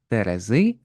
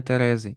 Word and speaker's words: терези: такі ваги і використовують Зверніть увагу на наголос Терези а не Терези і ваги а не ваги оскільки багато дослідів проводять